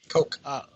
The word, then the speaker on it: Koch: Koch brothers are you know how to pronounce their name coke coke brothers wanted all these major